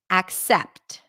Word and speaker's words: accept: word this word is technically accept with an A as in cat a and then primary stress is on the second syllable accept accept but wait